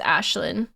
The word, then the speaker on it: Aislinn: That's how you're supposed to pronounce Aislinn? Yeah, I'm 100% sure it's Ashlyn.